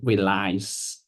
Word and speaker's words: relies: he reliz okay so relies did I pronounce it correct yes you pronounced it spot on lies sounds like R lies with the emphasis on the second part lies you're getting it